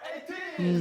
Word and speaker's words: ATEEZ: We are Ateez.